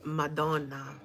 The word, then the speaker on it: Madonna: He's not saying it right. It's Madonna, which means Mary, Jesus's mother.